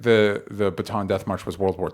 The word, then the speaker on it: Bataan: It's Bataan.